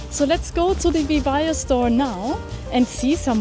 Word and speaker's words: VIVAIA: So I just wanted to ask you, how do I actually pronounce VIVAIA or VIVAIA? Yeah, VIVAIA.